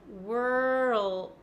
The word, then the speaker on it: world: happens almost immediately right W plus r then we go from an R to an L which I know is difficult for a lot of you I can feel my tongue sliding from the back to the front so from R to L world world world world and then just adding a d at the end world world so I'm gonna give